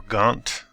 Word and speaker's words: Ghent: And unfortunately I could not find historic torical population statistics for the city of Gent or Gant some people pronounce it.